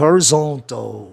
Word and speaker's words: horizontal: Você torna a palavra paroxítona, como foi o caso de horizontal. Horizontal, em inglês, então, é paroxítona em função de grupos fonológicos.